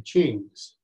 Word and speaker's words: Qing: All right, we're going to talk about the Manchu dynasty, the Qings. Qing, Q-I-N-G, pronounced C-H-I-N-G. To those of us in English.